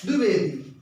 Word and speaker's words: द्विवेदी: प्रायः पढ़ लेते हैं, लेकिन है क्या ये द्विवेदी। द क्या है, इसमें द देखिए हलंत लगा है, द यानी आधा है, द्विवेदी।